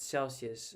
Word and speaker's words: Celsius: silly sort of that Celsius uh as a word by itself is only three syllables and the fact that this guy couldn't be bothered to tack on that third syllable at the end there, I don't know, stuck with me.